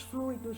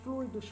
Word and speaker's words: fluido: Então, maus fluidos, bons fluidos, fluidos para freios, fluidos do corpo, mecânica dos fluidos. Então, é uma sílaba tônica, ela é um substantivo formado pelo ditongo ui, fluido, fluido. São duas sílabas, fluido.